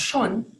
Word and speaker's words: schon: So for example, in German, the word schon, which means already, is pronounced schon.